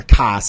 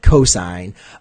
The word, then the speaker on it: cosine: a completely different thing, or cos instead of cosine.